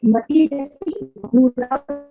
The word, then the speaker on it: मतिरस्ति गुरौ: मतिरस्ति गुरो मम पाहि गुरो So the first, मतिरस्ति गुरो मम पाहि गुरो so the first time is matirasti gurau. So you need to pronounce it as matirasti gurau.